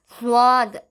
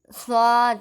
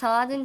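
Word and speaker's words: ص: அடுத்து நம்ம பார்க்க போறது என்ன அப்படின்னா சாதுன்னு சொல்லுவாங்க. அத ஸ்வாத் சவாத் அப்படி சொல்லணும். சாதுன்னு சொல்லக்கூடாது.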